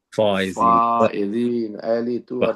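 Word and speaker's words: فائزين: لہذا ہمیں تلفظ میں اس بات کا خیال رکھنا. یا علی انتا وشیتک هم الفائزین، سبحان اللہ. فائزین، فائزین.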